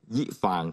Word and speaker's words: ยี่ฟาง: จาก ไต้หวัน นะ ครับ ออก เสียง ว่า อะไร ยิ ฟาง tbk ยฟ ยี่ฟาง นะ ฮะ คุณธร เคย กิน มั้ย